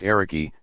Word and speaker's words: Eric: I shared a platform Eric aged 86 astonishingly was received like a visiting Rock Star by people on the streets who shouted Eric Eric pronounced eriki some women even asking